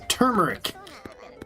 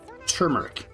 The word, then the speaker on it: turmeric: Or turmeric. I always say that wrong. Turmeric. It's for I grew up being told to pronounce it turmeric, but it's turmeric. They lied to me.